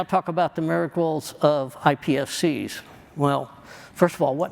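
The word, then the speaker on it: iPSCs: I'm going to tell you about half the time I say it wrong. I do. I say ISPC's and people correct me.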